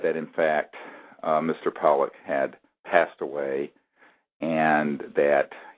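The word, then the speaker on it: Pawelec: witness uh William John uh Pollock is how you say his last name although it's spelled p a wle c and this is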